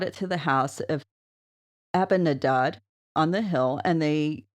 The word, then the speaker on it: Abinadab: Abinadab. Yeah, they work. You put the emphasis on the last syllable with the Hebrew.